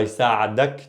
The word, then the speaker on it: يساعدك: So here, pay attention to the extension. يساعدك versus يسعدك. Quick. يسعدك. Again, جمال جمال. يسعدك. يساعدك. يساعدك. Okay? Extend that alif.